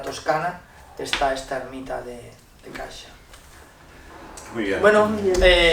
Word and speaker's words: Cascia: Santa Rita de Cascia, que sí, pero se pronuncia Cascia, porque es italiano.